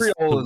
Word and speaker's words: Creole: Bad Guy C is Creole is how you pronounce that.